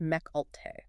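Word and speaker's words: Mecc Alte: Companies like Mech Alt and it's pronounced Mech Alt.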